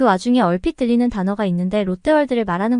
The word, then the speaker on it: 롯데월드: 얼핏 들리는 단어가 있는데 롯데월드를 말하는 것 같았습니다 아마 제가 한국에 있는 동안 롯데월드를 가보기는 했냐는 뜻으로 물었을 것 같아요 저는 다야 에게 롯데 와루도 아니고 롯데 월드라고 분명하게 말해줬죠 그러고는 하필이면 받침 발음도